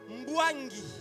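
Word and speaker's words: Mbuangi: Je ne sais pas si je le prononce bien. Oui. Mbwangi.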